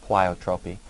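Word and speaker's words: pleiotropy: It's kind of an odd spelling and odd-looking word, but it is pronounced plyotropy.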